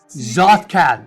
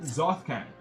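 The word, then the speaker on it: Tsojcanth: I'm not about to pronounce that. That is Tsoj... Zothkan. Zothkan.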